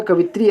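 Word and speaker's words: कवयित्री: भी नहीं होता है याद रखिएगा कवित्री ऐसे होता है बार-बार एग्जाम में पूछा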